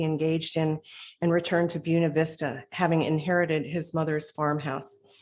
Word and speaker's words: Buena Vista: in glen alta georgia near buena vista and that's the way they pronounce it where he eventually built